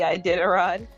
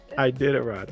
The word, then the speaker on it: Iditarod: Well, so how do you pronounce it? the Iditarod. Iditarod.